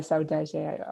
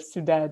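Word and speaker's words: Soudade: I like how they pronounce sometimes my name as a Portuguese way, as a Saudade instead of Sudad.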